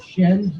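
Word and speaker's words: Semz: I was told to say it Shems, even though it's spelled S-E-M-Z.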